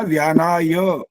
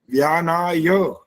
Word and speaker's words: व्यानाय: हो गई आचार्य जी बोलना था व्यानाय य का उच्चारण बिल्कुल स्पष्ट करना होता है। ए नहीं बोल सकते या ये नहीं बोल सकते। मात्रा नहीं है वहां पर। व्यानाय ऐसा बोलना होता है।